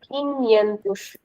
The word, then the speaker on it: quinhentos: 500 is called quinhentos. Quinhentos. 500. Quinhentos. So NH will be pronounced as nya.